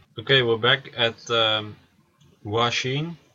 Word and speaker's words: Wxchii: we're back at the washing he told me that his name would be pronounced like washing so I'm gonna call